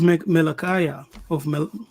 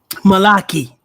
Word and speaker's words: Malachi: So, in the book of Melchiah, how do you say that? Okay. Melchiah, Malachi.